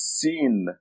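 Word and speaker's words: س: The next letter is Sin, and it looks like this. It has 3 teeth. Sin. That's the name of the letter. It's equivalent to S, as in Sam.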